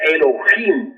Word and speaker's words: Elohim: Ahora, Elohim es una palabra que se escribe con H, Elohim, que se pronuncia Elohim, porque la H suena como J, y significa diosas y dioses.